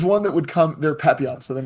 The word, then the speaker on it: papillon: I forgot about the papillons.